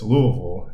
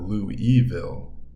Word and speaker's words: Louisville: While we could go back and forth over the pronunciation, it's Louisville and not Louisville.